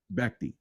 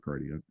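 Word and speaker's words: Bhakdi: I think it's like pronounced Bacti. Bacti, not Bardi.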